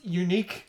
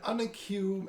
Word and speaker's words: unique: How did you used to pronounce unique? Oh, I would read it in like instruction manuals, and it's like press square to do an unacue action. Unicue?